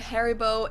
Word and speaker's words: Haribo: Maybe not everyone knew that Haribo is actually German. We pronounce it Haribo.